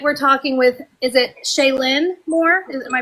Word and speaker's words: Chayelynn: Tonight, we're talking with is it Shayen Moore? Is am I pronouncing that right? Yes. Shayen. Shayen Moore.